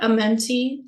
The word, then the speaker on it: Amenti: halls of a Mont Amante some call it amenti some call it Amante it's the proper uh the proper way to say it cause